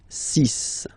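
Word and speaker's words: six: Then be careful here, because even if it's ending with this X, well, you'll have to pronounce it like S. Okay? So you get the 6 pronunciation. 6. 6.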